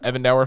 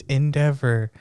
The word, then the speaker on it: Endeavor: That's like that, what was it, the Evan Dower fight? You're sitting there like, come the fuck on, you can do it. Why do you pronounce everything so weird? It's Endeavor.